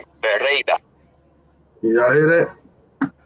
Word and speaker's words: Pereira: Paida. All right, the sensei has sent me the correct pronunciation. Pereira. Y'all hear that? Pereira. That's what I said. Pereira.